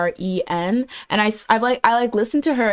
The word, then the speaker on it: Yiren: her name is spelled Yiren, and I listened to her introductions over and over again, but I wanted to make sure it's like if it's Yi or E, I think it's Yiren.